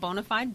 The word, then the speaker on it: BONA5D: it's spelled differently it's spelled Bo na the number-5 D it is pronounced bona fide and the definition is